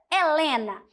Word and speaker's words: Helena: grafemas ou seja seis letrinhas e quando eu pronuncio quando eu falo a palavra Helena sem exceções é Lena não também nós temos